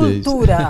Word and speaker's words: L'angolo di cultura: L'angolo di cultura. Assim que se pronuncia em italiano.